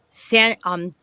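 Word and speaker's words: Sanchuniathon: I couldn't pronounce his name right, but I got it now. It's called Sanchuriathon.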